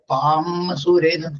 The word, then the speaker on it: പാംസുരേ: അസ്യ അസ്യ അസ്യ പാംസുരേ ഇവിടെ അതെ പാംസുരേ ചുണ്ടു കുടിക്കാൻ പാടില്ല പാംസുരേ പാംസുരേ പാംസുരേ സമൂഢമാസ്യ പാംസുരേ സമൂഢമാസ്യ പാംസുരേ